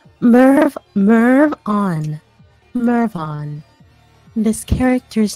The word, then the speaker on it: Mervon: Yeah, it's Mervon. That's the pronunciation. The pronunciation. Mervon.